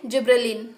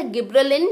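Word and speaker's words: گبرلین: तो अब हम सेकेंड हार्मोन में आ गए हैं, दैट इज जिब्रेलिन या गिब्रेलिन। मैंने बोला कि दोनों प्रोनाउंसिएशन होते हैं, आपकी मर्जी, आप कुछ भी शुरू कर सकते हैं।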